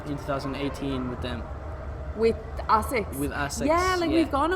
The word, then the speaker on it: ASICS: I asked you about the summer that you spent in London with ASAC Forerunner. So tell me more about that. Yeah, so did I pronounce it right? ASICS.